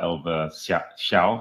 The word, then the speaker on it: Elva Hsiao: I mean, in Billion Dollar Well, we wrote about how he had been dating the Taiwanese pop star Elva Hsiao.